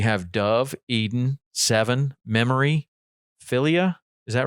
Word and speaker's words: Philia: dove eden seven memory philia is that right did i say that right we pronounce it felia yeah phillia and rainier so